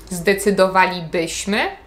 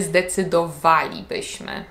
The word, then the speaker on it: zdecydowalibyśmy: do jednej prostej reguły taki Akcent kładziemy wtedy kiedy widzimy czasownik w pierwszej albo w drugiej osobie liczby mnogiej trybu przypuszczającego czyli nie mówimy zdecydowalibyśmy mówimy zdecydowalibyśmy zdecydowalibyśmy wzięlibyście zjedlibyśmy czasem Mamy